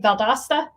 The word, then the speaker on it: Valdosta: more organized um okay next question anne from valdosta uh says did i pronounce that right valdosta you got it all right uh as an